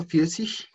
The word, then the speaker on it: vierzig: Vierzig. Esa G al final no suena tanto como una G, Creo que suena muy parecido como una CH.